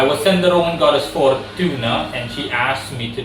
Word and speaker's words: Fortuna: f o r f-o-r-t-u-r-t-u-n-a so for tuna or for tuna i'm gonna say for tuna in terms of pronunciation um a good while